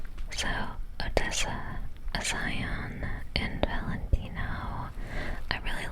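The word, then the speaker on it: A'zion: Odessa Aion. So, Odessa, Aion, and Valentino.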